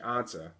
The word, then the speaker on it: Ansah: name the last couple weeks it's actually Ziggy Ansah how you say it and he that's the